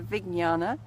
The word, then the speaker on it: Vijnana: she pronounces it differently she says the Vig jnana like a silent G but anyway I'm saying